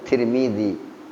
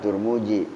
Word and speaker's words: Tirmidzi: lah rawun kirim ini kalau Mualim bacanya Tirmidzi bukan turmuji turmudzi tukang cukur kirim asli